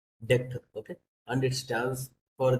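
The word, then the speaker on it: deque: It's not the DQ it pro the deck.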